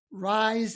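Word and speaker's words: Rize: It's spelled R I Ze. Rise Education.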